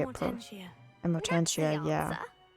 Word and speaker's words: Amortentia: Oh, yeah, it's Amortina. I don't know how to say it. Amortentia.